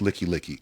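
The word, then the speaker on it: Likelike: highway come get me well it's pronounced licky licky i didn't know that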